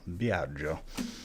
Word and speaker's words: Biagio: pretty manageable problems no my first name is biagio b-i-a-g-i-o be out joe so after a lifetime